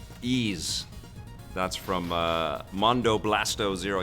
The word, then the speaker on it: Ys: I think Vic and Tommy discussed how to pronounce the name Ease.